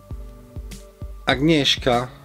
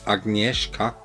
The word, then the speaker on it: Agnieszka: Agnieszka, ja, das Mädel heißt Agnieszka, ich glaube, so wird es auch ausgesprochen, liebt das Tal, in dem sie lebt.